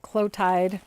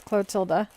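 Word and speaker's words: Clotilde: got the clotilda catalog a lot of people just pronounce it clotid but it's clotilda the end got back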